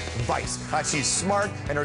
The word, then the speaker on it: Weisz: Rachel Vice yes that's how you say it Vice it's not we or wise or Weiss or stop or Franklin it's Vice uh she's smart and